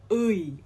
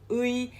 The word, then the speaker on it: 의: we're going to talk about this korean vowel ui okay it's pronounced as ui as in uh however this only changes whenever